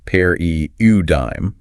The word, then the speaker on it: paradigm: Paradigm pronounced pair eudime refers to a typical example pattern or model of something.